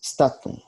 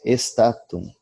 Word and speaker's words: statum: Pronunciam-se statum, spes, e não estatum, espes, como é comum no português se pronunciar.